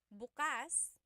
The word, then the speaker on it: bukas: If you say bukas the emphasis is on the second syllable that means open. If you say buas emphasis is on the first syllable that means tomorrow.